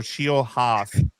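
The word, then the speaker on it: Nate Scheelhaase: It is Nate Shieldhouse, like Shield House or Shield Haas.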